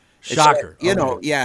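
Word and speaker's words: Schacher: last name is pronounced shocker shocker you know yeah if you stuck your fingers in a light socket you'd get a shocker that makes sense I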